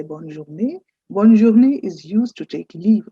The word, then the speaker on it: bonjour: I know looking at the double e you would be wanting to say, but actually it's journey as if there were n a y like day. you it's it's pronounced similarly jour and it means good day.